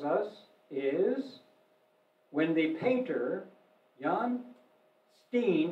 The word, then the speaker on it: Jan Steen: is when the painter jan steen i pronounce it american pronunciation i understand john steen visited their house and